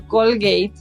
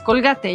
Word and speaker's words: Colgate: Es muy raro para mí cuando una marca que, por ejemplo, es Colgate, que realmente se pronuncia Colgate, pues la pronunciación aquí en México es Colgate.